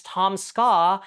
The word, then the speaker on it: Tom Ska: creator of the series, Tom Ska, in any way, it's just 2 syllables, bro. Tom Ska.